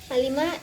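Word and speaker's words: عالِم: Alima di sini artinya mengetahui, diucapkan dengan tekanan datar. Sedangkan jika diucapkan dengan tekanan pada huruf ain, maka kata tersebut berubah makna menjadi ilmuwan, yaitu alima.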